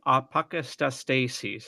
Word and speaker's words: apokatastasis: It's apokatastasis. I'll say that two more times. Apokatastasis, apokatastasis, and we'll spend the rest of the show flubbing it, and that's going to be perfectly all right.